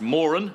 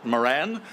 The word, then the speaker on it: Moran: more an Arts Foundation the family name is pronounced more'n not Moran which we often hear so I hope that